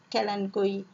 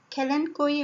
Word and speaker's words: Kalanchoe: plant it's called kalanchoe everyone pronounce it differently but I like to pronounce it Kalyn GUI it's an excellent flowery house plant mainly grown for its flowering ability Callen Kui bla still Dianna is